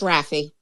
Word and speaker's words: Raphie: Raphie, is that the best way to pronounce it? Raphie, right? Yes? Yes, it's Raphie.